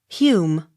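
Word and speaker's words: Home: o r d harford h o m e hume h u g h e s hughes j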